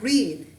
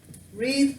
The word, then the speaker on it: read: Alton and what about read read past tense same spelling different pronunciation read read read read